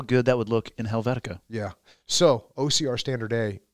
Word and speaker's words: Helvetica: Helvetica don't you dare say it wrong it's Helvetica bold you son of a pellet well twelve